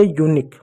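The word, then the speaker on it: unique: क्यू यू को क्यू, देखो क्यू और यू को हमेशा क पढ़ते हैं, क हो गया, ई साइलेंट होगा, तो हो गया यूनिक।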